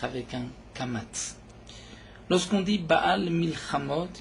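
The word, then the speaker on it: בעל מלחמות: Lorsqu'on dit Baal Milchamot, il faut faire attention de bien prononcer le Aïn, Baal Milchamot, pour ne pas entendre, au contraire, Baal Milchamot, comme si Akadosh Baruch Hu ne pouvait pas faire de guerre.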